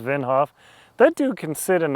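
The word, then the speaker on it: Wim Hof: Now, there is um the guy Winhoff, I think it's pronounced Vinhof.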